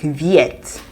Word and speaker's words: vet: For example, V-E-T is like vet in English, but it's pronounced like viet, like V-I-E-T in English.